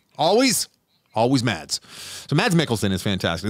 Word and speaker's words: Mads: teacher with Mads Mikkelsen, who I've been told the S is silent, so it's just Mad Mikkelsen. You know what? I will never pronounce it Mad. I'm with you. He will always be Mads.